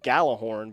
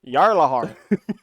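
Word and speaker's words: Gjallarhorn: Yeah, there's a weapon in there called Galahorn, but it's actually pronounced Jarlahorn.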